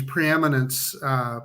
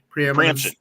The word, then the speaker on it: preemption: So I'm interested now in, he brought this up, in these preeminence state, am I pronouncing that correctly? Preemption.